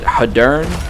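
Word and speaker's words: Hadern: First off, the pros, they added the Hattern, but I think the game pronounces it Haddern, something like that. I always called it Hattern.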